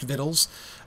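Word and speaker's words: victuals: like v c t u a LS is pronounced vittles um w a i s t c o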